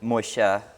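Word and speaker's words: Moshe: Moshi um it is it's traditionally pronounced Mosha or Mosha uh it's Hebrew for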